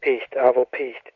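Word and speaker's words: Piht: Is that how you pronounce it? Yeah. Peace. Pit. Okay. Pist. Yes.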